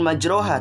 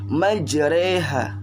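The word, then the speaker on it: مجراها: nilai himajoyo reha wamursahaa ya bukan majroha tapi majreha ya Nah itu adalah contoh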